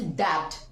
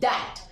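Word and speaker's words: debt: है है कल्ट और ये दैट में ये बी साइलेंट है क्योंकि हमारा रूल कहता है B before T then B is silent हमें ध्यान रखना है फ्रेंड्स कि कौन सा लेटर साइलेंट है सो बी is silent use to pronounce it डबड बट इट्स नॉट डबड इट्स दैट ये दैट है क्योंकि बी यहां साइलेंट है जैसे आप लोग डाउट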